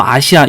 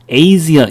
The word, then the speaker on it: Asia: 아직도 아시아 이렇게 하지 마세요. 아시겠어요? 예, 제대로 된 발음은 어떻게 됩니까? 뒤에 자음 하나, 모음 하나 이렇게 나오니까 A 발음을 해주는 거예요. 그래서 미국 사람들이요, Asia 이렇게 발음을 해주는 겁니다.